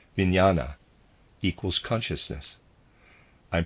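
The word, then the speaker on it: vijnana: This third force is called vinana equals consciousness. I'm pronouncing it vinyana.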